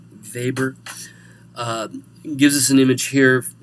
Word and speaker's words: Weber: had immigrated to America still pronounces his name in the Polish manner as opposed to Weber Weber gives us an image